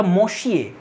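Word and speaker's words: Messieurs: দেবে তোমাকে এটাসার হবে আর এই যে শব্দটা মশিয়ে এটার প্লুরাল হচ্ছে মেশি এরকম উচ্চারণ হয় এবার বানানটা কি হবে দেখ এমযে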